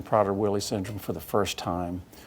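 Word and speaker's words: Prader-Willi: of people may have just heard the name Potter Willie syndrome for the first time can you tell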